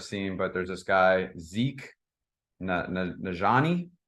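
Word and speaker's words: Zeke Nnaji: So, like, I don't know if you guys have seen, but there's this guy, Zeke Najani, if I'm not mistaken. Yep, that's exactly how you say it.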